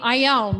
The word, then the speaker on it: Ione: for district three and you pronounce my name i own like i own a car and my goal is